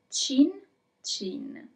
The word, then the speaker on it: cin cin: So the mysterious word is cin cin.